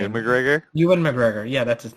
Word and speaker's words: Ewan McGregor: Ewan McGregor? Ewan McGregor. Yeah, that's his name. Evan McGregor. Mhm. Evan McGregor.